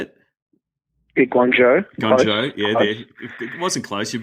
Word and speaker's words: Guangzhou: beat, I'm going to get the name right, Guangzhou. Is that how you say it? Guangzhou.